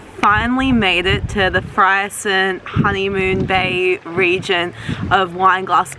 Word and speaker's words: Freycinet: I was pronouncing this part of Tasmania completely wrong. I was saying Freycinet, when in actual fact it's Freycinet. Freycinet.